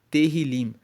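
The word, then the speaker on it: Tehilim: Tanto que no texto original, na Bíblia, no hebraico, o livro de Salmos se chama Terilim, que se escreve T E H I L I M.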